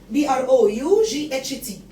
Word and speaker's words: brought: بص يا حبايبي bring يحضر الماضي بتاعها brought أحضرها B-R-O-U-G-H-T brought الجي والاتش طبعا مش بيتنطقوا.